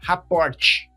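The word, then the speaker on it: rapport: Rapor, ó, rapor, primeiro que se escreve estranho, né? R a PP o rt. Raport.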